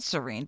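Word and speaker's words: Seaine: Cuz the the it's pronounced like the word that means calm.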